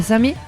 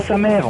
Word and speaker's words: Samer: On se retrouve donc à Samé. Et pas sa mère. On dit pas sa mère. On dit Samé. Effectivement, il faut bien prononcer. Ça se prononce Samé.